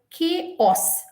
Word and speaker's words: chaos: of chaos k os what's the spelling of chaos h a o s but k os if i ask you